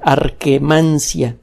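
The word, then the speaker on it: Akkermansia: música arqué man shia se escribe con doble k como suena arqué mancia art hermansyah perdón por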